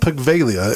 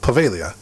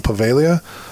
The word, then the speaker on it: Poveglia: island is actually called pavelia island now it's spelled p-o-v-e-g-l-i-a um but from the videos and stuff i've watched they don't pronounce the g it's not pegvalia it's pavelia so i always said